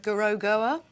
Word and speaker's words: Gorogoa: So yes, we've got Cuphead, Gorogoa.